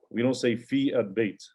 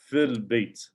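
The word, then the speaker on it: في البيت: It's not like when you hear this, when it's read, or when you hear someone saying it, we don't say fi al-bayt. It's fil bayt.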